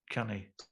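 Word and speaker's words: ceannaigh: Can you think of any 2 syllable commands? Like you might say, buy it. Well, canny. Canny.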